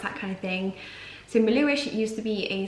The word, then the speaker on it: Melhuish: about my surname where it's from how it's pronounced that kind of thing so Malou ich it used to be a small hamlet in